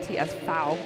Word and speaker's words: TSV: you're wondering what tsv stands for it's actually pronounced TS fou in German I speak a couple words here